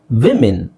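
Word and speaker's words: women: ಮ್ಯಾನ್ ಮೆನ್ ವುಮನ್ ವಿಮೆನ್ ಇದನ್ನ ಬಹಳ ಜನ ಮಿಸ್ಟೇಕ್ ಮಾಡ್ತಾರೆ ಫಾರ್ ಎಕ್ಸಾಂಪಲ್ ನಿಮಗೆ 80% ಜನ ಈ ವಿಮೆನ್ ಅನ್ನೋದು ಗೊತ್ತೇ ಇಲ್ಲ ಅವರಿಗೆ ಉಚ್ಚಾರಣೆ ನೀವು ಯಾರತ್ರದ ಬೇಕಾದ್ರೆ ಇಂಗ್ಲಿಷ್ ಗೊತ್ತಿರೋ ಕೇಳಿ ನೋಡಿ ಒಬ್ಬರಲ್ಲ ಒಬ್ಬರು ಅದರಲ್ಲಿ ತಪ್ಪು ಮಾಡೆ ಮಾಡ್ತಾರೆ ಓಕೆ ಸೋ ವಿಮೆನ್ ಅಂತ ಹೇಳಬೇಕು ನೀವು ಬೇಕಾದ್ರೆ ಅದರ ಡಿಕ್ಷನರಿಲ್ಲಿ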